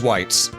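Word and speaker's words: wights: We gotta get rid of these whites. That's how it's spelled and pronounced. W-I-G-H-T. Just putting that out there real quick.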